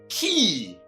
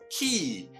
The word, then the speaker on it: quay: now you know that this word is never pronounced as spelled but rather what key just like this one that we know likewise this one is